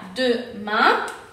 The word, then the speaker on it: demain: Entonces, demain se pronuncia demain. Y entonces es A, como lo acabamos de decir.